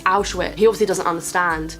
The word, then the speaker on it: Auschwitz: At one point he says out with, and she's like, oh, for God's sake, Bruno, that's not how you say it, you keep pronouncing it wrong, it's Auschwitz.